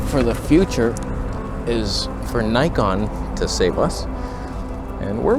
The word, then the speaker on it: Nikon: all photography aren't they those Nikon freaks that's how you pronounce Nikon by the way it's not Nikki norn on so as I await